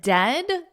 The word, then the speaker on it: dead: And dead, it said like bed, not bead. The word dead, the vowel in it is the same vowel as bed. So we can isolate this to that ed, and then just put a D, dead, bed. But we don't want that long E sound like we have